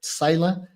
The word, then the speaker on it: Psaila: I'm pronouncing that right, Psaila, right?